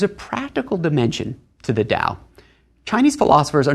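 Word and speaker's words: 道: in the do hotel do is the Japanese pronunciation of the Chinese word Dao it's actually the same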